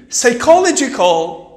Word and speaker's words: psychological: Psychological. Psychological. شوفوا معي الآن. Psychological. Psychological نفسي. وين هل منطقتوش؟ P. ما نقولوش psychological. Psycholog. بالفرنسي. No. In English. Psychological.